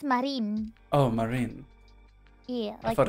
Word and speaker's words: Marine: How about you're pronouncing her name, Marina? Marina. Is that not right? It's just Marine.